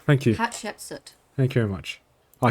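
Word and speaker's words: Hatshepsut: Rothma is going to pronounce the temple's name. It's Hapshep Hapsoot. Yeah, that's what it's meant to be called. Thank you. Hepsut.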